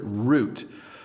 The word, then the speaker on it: route: or an itinerary now this word root you may hear it pronounced route so route or route we say root most of the times in canada and itinerary